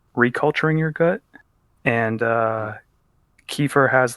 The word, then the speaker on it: kefir: uh i guess it's i've heard different pronunciations of it in america it's usually uh kefir but it's like kefir and it's k-e-f-i-r okay cool and uh